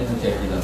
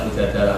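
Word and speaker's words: المجادلة: Memang Mujadilah itu beberapa ulama bacanya Mujadilah, perempuan yang mendebat Tuhan. Tapi ada ulama yang baca Mujadalah karena diambil makdarnya kan, jadalah yujadilu mujadalatan.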